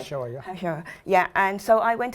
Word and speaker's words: HaShoah: And recently, I think they had Remembrance Day, David Yom HaShoim, I think it's called. My pronunciation is right. HaShoah.